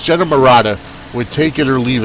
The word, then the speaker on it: Marotta: and it's Marotta, so I believe it's Marotta. So it's Jenna Marotta with Take It or Leave It right here on the Sportswire.